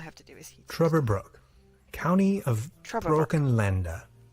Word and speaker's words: Trüberbrook: Oh, he's American, he's not saying it right. Right, okay, good. Because I would say Trüberbrook.